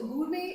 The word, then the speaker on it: gourmet: So the word is pronounced as gourmet. T is silent here, right?